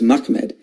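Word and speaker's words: מחמד: The way you pronounce this word is Mahmed.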